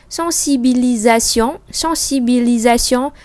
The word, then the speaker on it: sensibilisation: Thế vì mình đọc âm giờ bởi vì là chữ S đó nó nằm ở giữa hai nguyên âm.